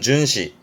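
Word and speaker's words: 巡視: 순시 발음은 준시 준시 뒤걸차 했었습니다.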